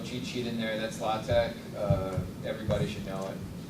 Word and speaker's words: LaTeX: And I don't say right, LaTeX, is it how you say it, or Latex? I mean, I say LaTeX Yeah, and Latex.